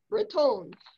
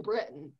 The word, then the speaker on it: Breton: here and it references andre raton which i learned how to pronounce about a year ago because i always called him bretton who knew it's called